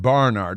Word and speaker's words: Barnard: got into to Barnard which you have to pronounce like that Barnard and it's best if